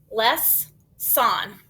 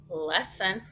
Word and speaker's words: lesson: Less son. Less son. I have never heard that word. But I've heard lesson. Did you hear what happened to that O? It kind of got lazy.